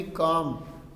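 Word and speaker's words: calm: तो इंटरप्रेटर बोलता है ट्राइंग टू बी काम, काम बोलते हैं शांत रहना, ठीक है, इसमें एल साइलेंट है।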